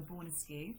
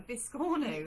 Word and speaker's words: biscornu: be great for doing a Boris SKU yeah um great idea or sorry I pronounced that wrong a biscornu b um like a biscotti um Nikki says good